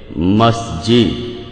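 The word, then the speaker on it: مسجد: আসলে মিশরী আরবি শব্দ যেটার সঠিক উচ্চারণ হবে মাসজিদ এখন মাসজিদ শব্দটা একবচন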